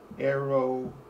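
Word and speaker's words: Eroğlu: And my first name is pronounced like. Last name, Eroglu.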